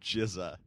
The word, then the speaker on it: GZA: He's doing he's been doing a lecture all over universities or Jizza or RZA. RZA? Yeah, Yeah. one of them. They let a guy named Jizza Yeah.